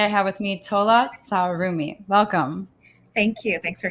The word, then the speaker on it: T'Sarumi: So and I want to make sure I'm pronouncing it. It's T'Sarumi. Is that correct? T'Sarumi, but you can just do Dr. Tola.